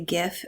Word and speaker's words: GIF: I like everyone to notice here the hard G pronunciation on the GIF label.